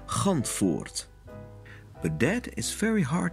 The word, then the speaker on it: Gantvoort: His name, pronounced correctly in Dutch, is Gantvoort.